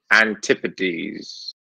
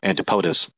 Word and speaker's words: antipodes: as to the fa you mean antipodes no antipodes antipodes antipodes wow the correct way to say it phonetically like that it would be antipodas no and never mind different